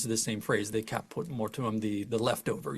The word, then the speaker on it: caput mortuum: Être suprême, the supreme being, and that's what he calls the caput mortem, or wait, hold on, am I pronouncing it? Mortuum? There are two U's in that, caput mortuum.